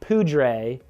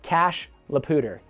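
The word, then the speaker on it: Cache la Poudre: you come in and you immediately say cash lapoter not cashe not poodrei but cash la pooter we have got some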